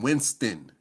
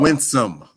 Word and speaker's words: Winsome: You said Winston. Did I say her name wrong? I'm sorry. Winsome. Winsome. I'm sorry, Miss Earl.